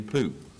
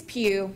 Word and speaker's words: Pugh: one will be Pooh. And, did I pronounce that last name right? It's Pugh.